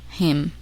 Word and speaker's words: hymn: The letter N is silent in the following words. Listen and repeat each word after the speaker. Autumn, column, hymn.